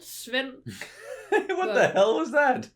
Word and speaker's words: Svend: But definitely not like, if you look at it, that's not how you say it. And that's not how we spell it today. It's just what I'm meaning. Like it's SVEND. Sven.